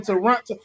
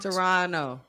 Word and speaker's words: Toronto: to your people in Toronto wait how you say supposed to say Toronto toron Toronto Toronto Toronto technically neither of the te's are supposed to be pronounced but neither of the